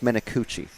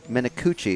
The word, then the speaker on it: Menacucci: of correcting driver names, it's Menacucci. Because it's one C. Well, it's difficult. I'm doing Italian Duolingo, and sometimes a C is a hard C. Sometimes it's like a CH, as we would do in English. But Menacucci is C-U-C-C-I at the end of the name.